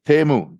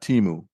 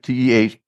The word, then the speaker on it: Temu: It's Temu, not Timu. Mm-hmm. It's pronounced Temu. Temu, right. Yeah, TEH-MOO.